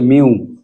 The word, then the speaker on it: mu: ধ্রুবক অর্থাৎ এই যে এটাকে মিউ বলা হয় মিউ এর উচ্চারণটা হচ্ছে মিউ এই মিউটাকে বলা হয়